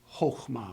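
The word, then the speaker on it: חָכְמָה: So if you expect a noun, you know that it needs to be pronounced chokhmah with a short O. If you're anticipating a verb in the sentence, you know that it needs to be pronounced chakama because a verb is anticipated.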